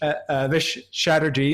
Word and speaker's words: Chatterji: And so Chatterji, am I pronouncing your last name right?